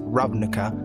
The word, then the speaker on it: Ravnica: as you might know ravnica which is actually pronounced ravnica is a plane whose main planet is covered